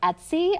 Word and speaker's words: Etsy: So on my side here, this is actually a print that I got off of Etsy. I think it's pronounced Etsy, E-T-S-Y.